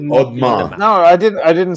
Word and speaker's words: Audemars: Aude is Mhm. Ode. It's like Audemars.